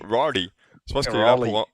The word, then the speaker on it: Raleigh: Je pense qu'il est là pour remplir Tu prononces comment? Rolly. Rolly. Raleigh.